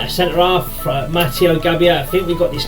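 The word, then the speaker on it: Gabbia: Mateo V to get matio gabia that's how you say his name um ball playing Defender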